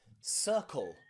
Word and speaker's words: circle: Before the letter I, some practice words are words like circle, circle, or cinema, cinema.